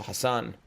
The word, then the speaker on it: Hassan: So how do you pronounce Bilal Hassan? Exactly as I just did. And I think he has Hassan as one S, so Hassan.